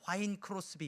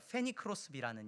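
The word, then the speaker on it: Fanny Crosby: 아 저는 옛날 그 옛날 발음으로 화인 크로스비 이렇게 배웠었는데 원어를 보니까 페니 크로스비라는 인물이에요.데 그 페니 크로스비라는 분이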